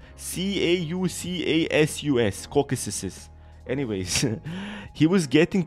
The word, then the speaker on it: Caucasus: kids from the Tamer class was gathering around Caucasus, the Beetle Emperor that was now Velius's first and only summon.